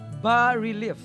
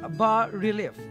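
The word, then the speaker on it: bas-relief: public art pieces o bus relief sculpture pronounced as bar relief yun pala ang tama It's bar relief nina general Peralta general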